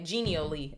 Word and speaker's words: genially: I want to hear it pronounced. Genial. Oh, genial. Okay, genially.